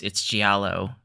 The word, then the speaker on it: Giallo: It's Giallo.